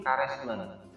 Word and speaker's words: karesmen: Terus yang kedua gending karesmen. Karesmen ya dibacanya.